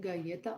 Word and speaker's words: galleta: Is it galleta? Oh, wait, no. It is. It's galleta. It is.